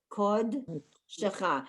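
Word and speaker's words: קודשך: The first syllable is kod, and that's a silent shva, the 2 dots, and then it starts the beginning of shecha. That's a sounded shva. So it's kod shecha.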